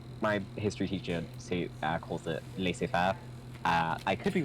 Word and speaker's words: laissez-faire: My history teacher calls it laissez-faire. I could be wrong. Y'all don't like the French, so how y'all gonna pronounce words?